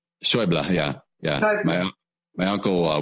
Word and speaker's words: Schaeuble: The American pronunciation is Schäuble, but German, I believe, is like Schaeuble. Schäuble.